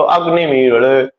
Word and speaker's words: अग्निमीळ: नियम ये है कि 2 स्वरों के बीच में जो लकार आता है उसका उच्चारण लो लो इस तरह से किया जाता है। तो अग्निमीळ अग्निमीळ, तो इसको दुष्पृष्ठ कहा जाता है।